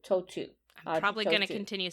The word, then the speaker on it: Tautou: So the first, like T-O-E, toe, and two, T-O-O. That's how you pronounce it, Tautou. I'm probably going to continue saying tattoo because Tautou and that's fine.